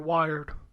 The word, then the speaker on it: Wyrd: you say it wyrd would you call that weird or wired I think it's weird kind of weird it's a